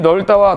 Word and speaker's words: 넓다: 이 밥다의 발음을 쓰고 르브 받침의 발음이 넓다와 다른 이를 쓰고 이건 어떻게 발음한다고요? 밥다. 이건 넓다예요. 넓다. 밥다, 넓다.